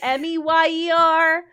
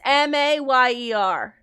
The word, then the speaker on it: Mayer: And my whole life, I swear that it was my baloney has a second name. It's Meyer, but it's Mayer.